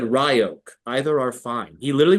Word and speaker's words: Ryok: And it's because in Hebrew, the Y sound is given an E sound. So phonetically, it's R-I-O-K, like Ryok.